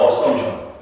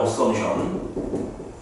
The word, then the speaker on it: assumption: 영어로는 assumption. P가 묵음이야. assumption.